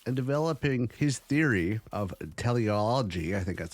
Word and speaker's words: teleology: pondering life's purpose and developing his theory of teleology I think that's how it's pronounced t-e-l-e-o-l-o-g-y anyways uh the idea that everything